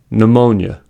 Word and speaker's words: pneumonia: a word, then the P is silent. For example, pneumonia, psychic, pterodactyl.